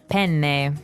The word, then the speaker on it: penne: All right, so how do you pronounce, we said penne in English, in American English, but in proper Italian it would be? Penne. Penne. So you double pronounce the consonant.